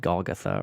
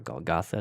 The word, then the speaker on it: Golgotha: It says, finally, they came to the place called the Skull, or sometimes called Golgotha or Golgotha, depending on your pronunciation.